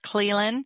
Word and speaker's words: Clelan: I'm your host, and today I have a special guest with me, Derek Clelan.